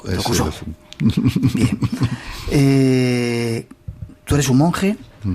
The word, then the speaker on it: Dokuso: Es más japonés. Es el acento en lao. Dokuso.